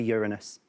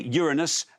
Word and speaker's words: Uranus: I'm going to go for Uranus. OK, Uranus, not pronouncing it Uranus for reasons I don't know.